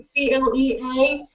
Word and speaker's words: Clea: CLEA, and that's her outfit.